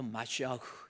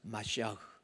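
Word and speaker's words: משיח: 그래서 메시아도 마시아흐 해 가지고요.이 모음의 발음에 의해서 마시아흐 이거 이제 메시아라고 하는 거고요.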